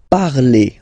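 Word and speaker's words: parlent: And the last one, so even if you've got this ent, well, don't hate me, but you won't pronounce these letters, okay? You have to write them for the plural form, but you don't pronounce them, so you get il parle, elle parle. So the good news is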